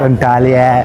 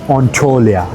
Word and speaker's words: Antalya: इट्स नॉट एंटालिया, इट्स नॉट एंटोलिया, इट्स ऑन्टोलिया।